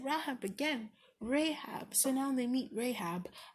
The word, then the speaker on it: Rahab: Let's see if I pronounce it right this time. Rahab. I said Rahab again. Rahab.